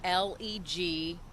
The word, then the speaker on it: Legeza: And Legeza is how his last name is pronounced. It's Legieza.